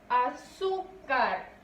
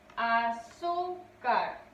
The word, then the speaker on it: azúcar: Azúcar. Azúcar. Su sílaba tónica recae en su.